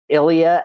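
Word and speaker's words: Ilija: was a gentleman named Ilia movich and his name is spelled i l j a which ironically looks a little bit like Elijah but it is Ilia so we met with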